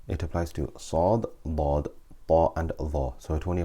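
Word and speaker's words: ط: we keep our tongue, we stick our tongue to the roof of our mouth when pronouncing these letters, and we maintain the pressure. Okay, we keep it tight. So Ta, that way we will not pronounce Twa or Ta.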